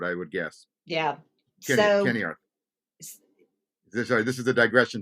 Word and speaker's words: Ceniarth: Kenny, for the record, it's it's Kenny Arth, which is a a Welsh which is a Welsh word, I would guess. Yeah. Kenny Arth.